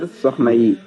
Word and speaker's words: Keur Sokhna Yi: I don't pronounce it right in Wolof, so I got people to, tell me what it's Keur, what it's Sokhna called. yi. Care Sokhna. Good. Keur, Sokhna yi.